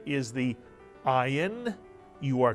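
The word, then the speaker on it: ayin: it's a y sound the ion is one of the two Hebrew letters that is silent and the other silent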